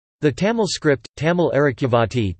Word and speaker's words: தமிழ் அரிச்சுவடி: The Tamil script, Tamil Arakivati, Tamil Arakivati, T. M. it, U. I.